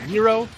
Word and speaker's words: gyro: I believe it's pronounced Euro. Yeah, it is Euro.